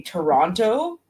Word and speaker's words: Toronto: pronouncing it incorrectly and you're not supposed to pronounce that second T you don't pronounce half